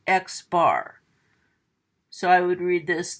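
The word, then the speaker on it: x-bar: over it called a bar and this is pronounced xbar so I would read read this the sample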